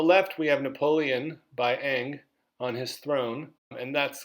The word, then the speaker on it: Ingres: In the Ingres painting on the left, and that's how you pronounce that, Ingres is Ingres, Napoleon is a Roman emperor.